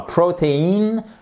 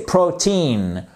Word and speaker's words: protein: c'est le cas mais quand vous prenez le mot par exemple protein vous voyez vous avez votre hon ici et pourtant c'est pas cette syllabe qui est accentuée c'est pas cette seconde syllabe qui est accentuée mais c'est bien la première et d'ailleurs c'est pas protéin non c'est protein on ne prononce pas le e si je puis dire il est passé à la trappe ok donc ça c'est